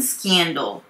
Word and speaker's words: scandal: Volkswagen initially played down the emission scandal. Volkswagen initially played down the emission scandal. Volkswagen, L がうですね。Volkswagen.Initially っていうのは初めにってことですね。初めには。Play down the emissions scandal. Emissions っていうのは排ガスのことですね。車の。Scandal. スキャンダルではなくて、KE の発音で伸ばされますね。で、ダルではなくて、ドーですね。最後は Scandal。